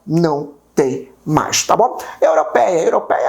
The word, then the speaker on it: europeia: Como é que eu separo a palavra europeia? Europeia. Percebe que o PEI é onde existe a minha tonicidade, é onde existe a minha sílaba tônica.